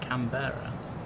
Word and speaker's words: Canberra: 52 miles to go until Canberra. Is that actually how you pronounce it? Camber.